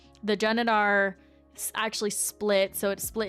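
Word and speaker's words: Genedar: Janadar Janadar Janadar Janedar, which makes more sense than Genar. Okay. Janadar. So they were saying the Janadar actually split.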